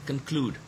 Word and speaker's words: conclude: Look at this word, conclude. The second syllable is stressed.